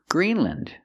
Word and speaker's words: Greenland: Iceland, Greenland, New Zealand. Again, we're pronouncing them with the short sound, lind.